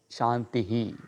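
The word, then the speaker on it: शान्तिः: If you individually use the word Shanti, it is becoming Shantihi.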